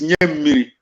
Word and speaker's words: Nyamiri: Nyamri is Nyamiri. I mock you when I say, when you call, I laugh when you call me Nyamri, because you are able to pronounce Nyamiri, give me water. Banirua in Hausa, give me water. You don't know how to pronounce it. I pronounce the correct Nyamiri.